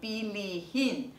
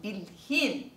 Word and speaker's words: bilhin: 这里要注意有红色的字特别标记的，也就是当一个词根它后面没有喉色音，譬如像刚才的 basa 这个词根，它后面如果要加 in 的话，它要念成 basahin，那个 h 要塞进去。像后面的 bili 也是一样， bilhin 啊， bilhin 后面要加一个 h 要塞进去，而且呢不仅是塞一个 h 而已哦，还将最后的那个 i 也给省掉了，它不是念成 bilihin，而是念成 bilhin，看到吗？